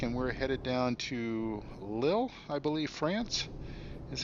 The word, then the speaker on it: Lille: We're in Rostock, and we're headed down to Lille, I believe, France is how it's pronounced.